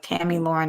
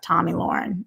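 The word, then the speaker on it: Tomi Lahren: guys think um murtaranta says t-a-m-i lauren like tammy lauren not tommy no it's pronounced tommy um it's just spelled like that tommy lauren is how she says it um unless i'm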